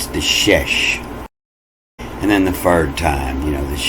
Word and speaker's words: shesh: That means it's pronounced S-H, E-S-H, shesh.